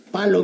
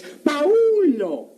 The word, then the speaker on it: Paulo: Palo vi. ¿Cómo? Palo vi. Pues ahí dice. En primer lugar, no es palo, es Paulo.